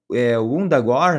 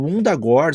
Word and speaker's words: Wundagore: E o Wundagore se escreve com W-U, né? Então esse W-U em inglês muitas vezes, em vez de virar Wunda, vai virar Wanda, né? Então fica meio parecido com Wanda, né?